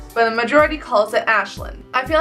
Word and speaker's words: Aisling: said before how is Ashland's felt the way on my channel pronounced ashland I know it's confusing the way I spell is actually Gaelic and it is pronounced